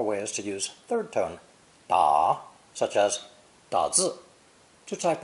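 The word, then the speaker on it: 打: both radical and phonetic it's pronounced third tone da da and means to hit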